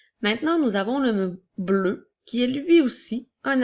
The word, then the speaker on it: bleu: Alors, bleu au masculin s'écrit B-L-E-U, qui vont faire le son E, alors bleu.